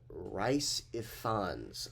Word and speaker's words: Rhys Ifans: The person who plays Rasputin, Rhys Ifans, I think that's how you pronounce that, but he was definitely a standout for me.